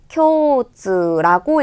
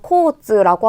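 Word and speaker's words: 共通: 여러분 만약에 여기서 코즈라고 하잖아요. 요거는 교통이라는 뜻의 다른 의미의 단어가 되기 때문에 코즈냐, 쿄즈냐 요것도 굉장히 중요하겠죠. 3번에 쿄즈는 왜 틀려요?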